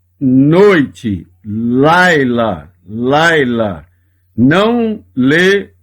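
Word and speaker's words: לילה: Neste caso, não lê o som do Shevá, apenas o som do Yud.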